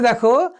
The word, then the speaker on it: দুঃখ: দুঃখ, দেখো পরে যে ব্যঞ্জন রয়েছে সে ব্যঞ্জন ধ্বনিটার দ্বিত্ব হয়েছে।